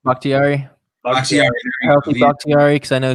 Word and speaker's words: Bakhtiari: For my team, the Los Angeles Chargers, give me that left tackle over in Green Bay, David Bakatari. I don't even know how to pronounce his last name. Bakhtiari.